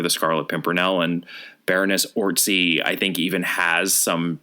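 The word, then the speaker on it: Orczy: apparently it's actually pronounced orty it looks like it's pronounced orc Z because it has a z in it but it's one of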